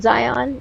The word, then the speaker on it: Zion: because I was wondering how to say his name, but Zion is right. I said Zion in the beginning. He shook his head yes, so I figured it was. I figured I was saying it right.